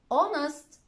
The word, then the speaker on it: honest: Sometimes it's not pronounced at the start of a word like honest, hour.